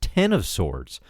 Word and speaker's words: X of Swords: dawn of X crossover X of sorts no pronounced ten of swords starting amaze Free Comic